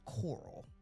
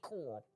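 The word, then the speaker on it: Corll: So, you got to tell the audience it's spelled C O R L L. Coral. That's why she can't say it.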